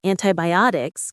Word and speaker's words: antibiotics: Words like thermometer and antibiotics can be tricky. Let's try one more time. Thermometer. thermometer and antibiotics. Antibiotics. Stress on the OT part.